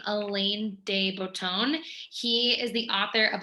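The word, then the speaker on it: Alain de Botton: with a quote from i believe you pronounce his name elaine dey bouton he is the author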